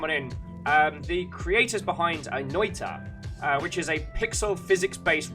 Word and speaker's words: Noita: So it's pronounced Noita.